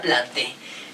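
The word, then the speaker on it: Plantae: reino vegetal de hecho se escribe planta e pero se produce a planté el reino vegetal se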